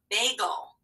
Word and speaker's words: bagel: about counting back three which one of these words has a uh schwa sound that kind of disappears you don't even hear the vowel that's right bagel yeah the second syllable is go we don't even hear that vowel at all so whenever you